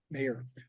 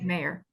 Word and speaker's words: Maher: Mayer. Thank you, Mayer. Yeah, Mayer, it's pronounced.